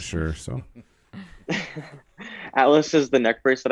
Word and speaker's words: Atlas: what is the is it Altus? Am I pronouncing it right? Atlas? Atlas.